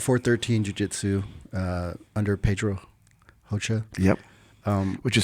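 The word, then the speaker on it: Rocha: I train at 413 Jiu-Jitsu uh under Pedro HOA yep um which is spelled r o c a I'm sorry r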